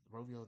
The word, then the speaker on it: Rovio: yeah they're essentially buying Rovio or Rovio that's how you say it the the people that